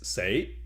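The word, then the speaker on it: 死: So in Cantonese, 4 is say, and death is say.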